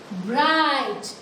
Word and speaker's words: bright: We are not spelling the alphabet G and H. G और H को हम नहीं बोलते हैं. Bright.